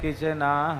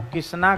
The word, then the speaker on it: कृष्ण: जिसका जो उच्चारण, पर मंत्र में आपका ऐसे नहीं चलेगा कि कृष्ण को किसना कह दो, ये मंत्र में नहीं चलेगा।